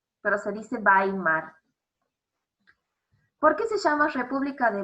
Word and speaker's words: Weimar: 1919 y se vas a amar república de weimar se escribe way mart con w pero se dice bailar porque se llama república de weimar porque se